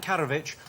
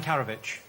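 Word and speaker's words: Karadžić: I asked you how former Serbian leader Radovan Karadzic was evaded capture for 12 years. Oh, yes. I've pronounced his name differently every time I've said it so far. Radovan Karadzic. Karadzic.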